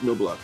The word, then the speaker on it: Knoblauch: Yeah, that's the English pronunciation is Knoblauch, like the baseball player. Okay. Germans call it Knoblauch. It's German for garlic.